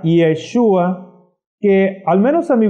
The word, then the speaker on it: Yeshua: se llama iota enseguida Aunque en el hebreo no escribimos la e pero se pronuncia yeshua que al menos a